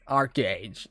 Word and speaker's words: ArcheAge: what's up welcome to art age or arch age you know the right pronunciation ArcheAge you can exert discord so